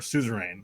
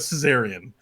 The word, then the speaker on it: suzerain: Suzerain or suzerain. So it's not Caesarian. Suzerain.